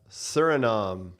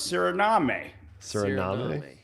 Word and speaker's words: Suriname: Surinom. Paramaribo. Sounded confident. I feel like he uh he got it. Where where is even Surinam?